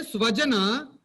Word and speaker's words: swajana: If you say swajana, it becomes my people. If you say shvajana, the just sa and sha, a small difference in our pronunciation, it becomes dog people.